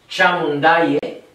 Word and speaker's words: Chamundaye: Hrim, cream, Chamundaye, which is cha like cha-cha-cha. Moon like whatever. Mundaye, Chamundaye. Okay?